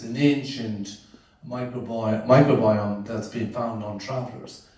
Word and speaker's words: microbiome: on politic with that microbiome this is the next guy up is a professor of science microbiome took me a while to pronounce that word it's called microbiom or something but it's microbiome it's a good bacteria